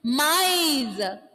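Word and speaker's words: maïs: Okay, and listen to the difference between those two pronunciations. Mice and may.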